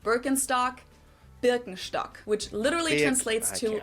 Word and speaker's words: Birkenstock: So, English speakers usually say Birkenstock. In German, we say Birkenstock.